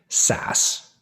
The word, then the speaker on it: SaaS: But software as a service, we most typically say SaaS. Take the acronym, pronounce it out.